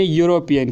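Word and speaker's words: European: से स्टार्ट होता है लेकिन यहां पर जो ई है वह साइलेंट रहता है और यहां से जो साउंड निकलती है वह है वाई की यानी यूरोपियन की तो इसीलिए यहां पर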